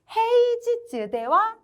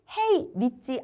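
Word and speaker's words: 平日: 아시다와 헤이지즈대와 아리마생이라고 되어 있는데요. 우리 지금까지 계속 니찌로 읽었는데 처음 지즈로 읽는 음독이 등장했습니다. 그쵸? 그래서 헤이지즈, 평일은 헤이 니찌 아니고 헤이지즈라고 읽는다라고 생각해 주시면 돼요.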